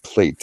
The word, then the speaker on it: plait: That's not like a plate that you throw or you eat off of. A plate. It's spelled Plait. Means a large braid.